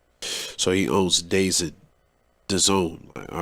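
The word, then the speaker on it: DAZN: like like boxing in like soccer overseas uh pronounced the zone has been described as the netflix of sports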